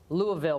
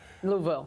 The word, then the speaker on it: Louisville: deep into it well first I had to say Louisville right Louisville Louisville Louisville it was hard to get it right Louisville Louisville are we saying it right Louisville we sound like we from there louville louville louville close enough Dave's like no you